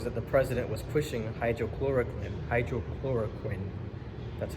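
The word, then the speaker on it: hydroxychloroquine: So one of the drugs that the president was pushing, hydrochloroquine, that's how it's properly pronounced, apologies.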